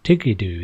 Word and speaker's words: Tiguidou: interested to see so tig we do or tikido is another way of pronouncing it uh do let